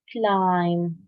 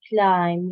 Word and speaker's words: climb: first word here is climb climb read the word Yousef climb the B is silent to be silent yes climb wonderful clim